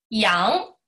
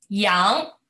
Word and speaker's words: 阳: 羊，羊，这里咱们来组个词，这是什么呢？